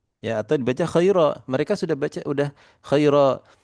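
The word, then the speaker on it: خيرا: Tapi para ulama sepakat untuk Al-Quran maka dibacanya menjadi khaira misalkan seperti itu. Jadi iwad. Jadi apa? Tidak ditanwinkan lagi. Tapi para orang-orang Arab biasa membaca ya. Bisa sebagian suku misalkan itu membacanya dibaca mad khaira. Sebagian lagi baca khairan.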